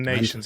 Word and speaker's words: Nyschens: Months of the Sun, Ian Nations. And Nations is spelled Nyschens.